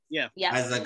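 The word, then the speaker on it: Eiza: Aisa Gonzalez.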